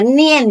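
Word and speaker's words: 念: Itu jangan bilang tuh ya, itu baca nien biasanya.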